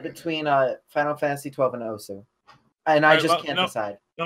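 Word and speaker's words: osu!: First of all, you pronounce it Osu. Oh my god! Oh my god! Kill yourself. So that's how the game pronounces it. Click the circle. It is Os. It's Os.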